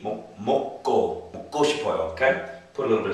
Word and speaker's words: 먹고 싶어요: Okay, my tip for pronunciation is just make it as flat as you can. 먹고 싶어요. 먹고 싶어요. Okay, don't try to put too much stress in anywhere.